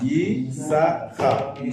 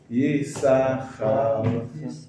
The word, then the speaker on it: Yisachar: Yehuda, Yisachar. Again, Yisachar. 3 syllables. Yisachar, Zevulun.